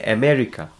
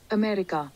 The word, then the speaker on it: America: Many of us, we say America. So when we type in Google and try to find the pronunciation, it says America. America. Got it? America.